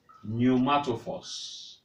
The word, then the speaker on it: pneumatophores: Their own organ of respiration is called pneumatophores. The P is silent.